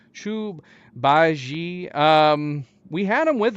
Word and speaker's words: Zhu Bajie: Chu Chu because that's that's how the second sister pronounced his name Chu baji um we had him